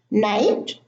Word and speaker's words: night: Now, all of those words have a silent G and H. In the first group, the GH are in the middle: fight, sight, light, tight, night, bright, height, eight.